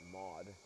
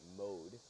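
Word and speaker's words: Maude: her first name being, if you were American, you would pronounce it Maud. But since she's, you know, kind of French descent, she pronounces it French Canadian. She pronounces it Mode.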